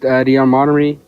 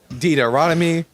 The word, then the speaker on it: Deuteronomy: You see, you got Genesis, Exodus, uh, Leviticus, Deon, Montery, all of it. You know, wait, I can't pronounce the word. Deuteronomy, Deuteronomy.